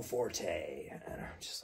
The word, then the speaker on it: Forte: just to pronounce the the English word Fort like building a fort with your with your